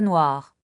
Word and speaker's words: noirs: Et pour le pluriel de noir, On écrit des chats noirs. est-ce que le S est toujours muet? Généralement, oui, on ne le prononce pas.